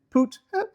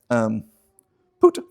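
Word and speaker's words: Phut: Now the sons of Ham, who are Cush and Mizraim and Put and Canaan. I know it's spelled P-H-U-T, but it's pronounced Put.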